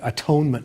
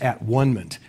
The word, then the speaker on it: atonement: The next stage for Campbell is the atonement with the Father, which Campbell always insists that we pronounce at-one-ment instead of atonement, which means that the hero achieves a kind of identity with the Father.